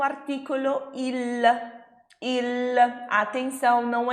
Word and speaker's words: il: Mas no italiano essa letra L tem que ser bem pronunciada, hein, ragazzi? Então a gente não vai pronunciar il, a gente vai pronunciar il. A ponta da língua vai lá no céu da boca.